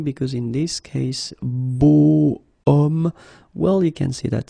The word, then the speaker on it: homme: So remember, I say the sound of a vowel because, of course, if you look carefully, you've got H here. Okay, and it's not a vowel at all. But then in French, we don't pronounce it.